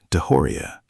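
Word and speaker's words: DeJoria: If you'd think Khan's rise sounds impossible, wait until you hear about a door-to-door shampoo salesman named John Paul Deoria, pronounced Deoria.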